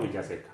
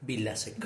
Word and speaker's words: Vilaseca: Héctor, ¿cómo se pronuncia? ¿Vilaseca o Villaseca? Vilaseca. Vilaseca.